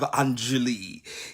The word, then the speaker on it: Anjali: I stand corrected in the proper pronunciation of Anjali.